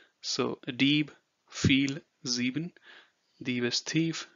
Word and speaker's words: Dieb: Then the combination I, E, think of it as pronouncing it as E and the word free. So Dieb, viel, sieben.